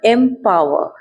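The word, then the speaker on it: empower: आप थोड़ा उच्चारण में भी ध्यान दीजिएगा। एमवर। एमवर मींस आर साइलेंट है।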